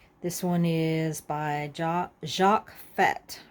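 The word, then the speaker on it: Fath: one is by Jacques fat I think it's how he pronounces it French it looks like fast f-a-t-h but I think you pronounce it fat kind of odd evening dress 1947.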